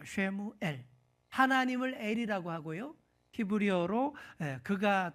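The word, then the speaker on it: שמואל: 정확한 히브리어 발음으로 쉐무엘입니다. 쉐무엘.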